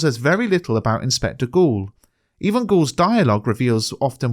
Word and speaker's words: Goole: It is often noted that the inspector’s name, ‘Goole’ sounds like the word ‘ghoul’, meaning ghost or spirit,